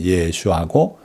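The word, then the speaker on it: ישוע: 그걸 우리말로는 예수라 그러고 영어로는 지저스라 그러고 나라마다 이렇게 달리 발음하지만 원 발음은 예수님의 이름은 예슈아고, 이 예수아가 다시 말하면 구원이에요.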